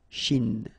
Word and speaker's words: Chine: Remember, don't insist on the e. Chine. Okay? And then this CH, ch, ch, ch. Chine.